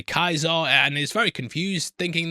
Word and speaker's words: Caesar: She hears them say Kaiser and is very confused, thinking that they might mean a German Kaiser. And yeah, I'm glad they acknowledged it, because yeah, it's spelt Caesar, but pronounced completely differently.